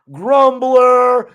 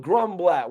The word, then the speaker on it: Grumblat: He's not Grumbler. He's not Mark Zuckerberg. It's nothing like that. Shout out to Alan Grumblat.